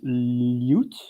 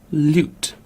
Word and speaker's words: lute: think in English it's lute lute or loot ah two pronunciations in UK lute or loot lute or l or